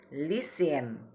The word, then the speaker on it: lycéen: Tetapi ketika mengucapkan nama pekerjaanmu, antara perempuan dengan laki-laki berbeda pengucapan. Ini bahasa Prancis itu dibedakan pengucapan untuk yang jenisnya perempuan dan yang jenisnya laki-laki.